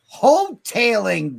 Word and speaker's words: Hotaling: H-O-T, hotel. Is the A pronounced as a E? Short E? Long E? Tailing. Tail. Oh. Hoteling.